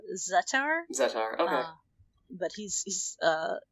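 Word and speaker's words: Zettar: kind of going against zatar zetter or zatar i think the the way they pronounce it is uh zattar okay but he's he's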